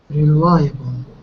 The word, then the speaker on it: reliable: Reliable.